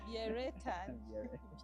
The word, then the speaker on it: Biereta: For her, she has a way she pronounces her name, but for us, the Bachiga will call it Biereta.